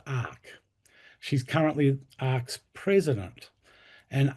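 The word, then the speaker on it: ARRCC: For the last 15 years, she's been involved in the multi-faith climate action organisation, Australian Religious Response to Climate Change, pronounced ARC.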